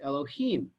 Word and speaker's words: Elohim: he means by that it is written one way and pronounced another okay actually that sounds